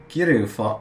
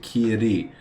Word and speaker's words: kiri: Kiru, not Kiru, Kiri. Kiru's to cut. Kiri is fog.